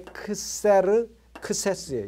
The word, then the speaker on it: 크세르크세스: 그러니까 이게 크세르크세스예요. 이게 발음이 크스에르 크스에스.